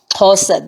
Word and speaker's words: Xhosa: original language, which was the Xhosa, which is what's called Xhosa today. Xhosa, that's the right pronunciation of it.